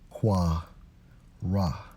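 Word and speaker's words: קָרָא: Strong's H 7122, pronounced as qua ra.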